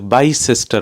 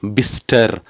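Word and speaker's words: Bicester: வாசிக்கிற மாதிரி வாசிக்கவே முடியாது இத வந்து பைசெஸ்டர் என்றோ பி செஸ்டர் என்றோ வாசிக்கக்கூடாது என்றும் முடிவெடுத்துட்டேன் நான் இதுல வேறு ஏதோ பிரச்சனை இருக்கு என்று சொல்லி கடைசியாக கேள்விப்பட்டேன் இது வந்து பிஸ்டர் பிஸ்டர் என்று சொல்லி அதுல வர சிையோ இயோ உச்சரிக்க கூடாது நேரடியாக பிஸ்டர் என்று வாசிக்கணும் என்று சொல்லி இப்படியே இந்த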